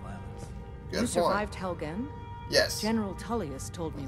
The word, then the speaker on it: Helgen: Survived Helgen? Yes. General Tullius told me what happened. Pronounced Helgen.